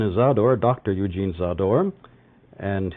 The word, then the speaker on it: Zádor: Eugene saw door and he says that it rhymes with a door and he comes from